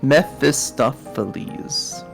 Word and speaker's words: Mephistopheles: Mephistopheles.